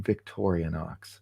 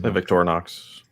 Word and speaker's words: Victorinox: so far there's no there's no a in Victorian Ox Victorinox okay how do you guys how would you guys pronounce Victoria's Victorinox Victorinox all right sorry I stand corrected thank you tank 44.